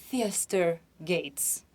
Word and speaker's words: Theaster Gates: americano, o nome dele é muito difícil de pronunciar, Theaster Gates.